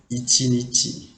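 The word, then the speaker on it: 一日: But in this kanji also have the pronunciation like ichinichi. The kanji is right the same, but the pronunciation is different.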